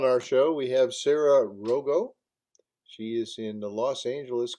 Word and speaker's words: Rogo: So I hope I pronounced your name right. yeah. I Rogo?